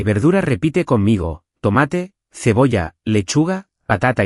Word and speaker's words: tomate: No digas tomate, como en inglés, di tomate con la fuerza en ma.